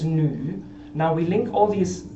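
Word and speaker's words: 女: Now this character over here means woman, as you see here, and the pronunciation is nu.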